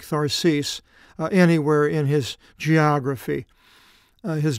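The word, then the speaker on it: Θαρσις: not mention Tarshish or Tharsis as it's pronounced in the Greek Tharsis anywhere in his geography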